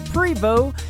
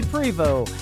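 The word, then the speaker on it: Prevost: Cody Freebo Cody is Co di e Prevot as PR e vo st that's right the T is silent Cody Freebo and a great tune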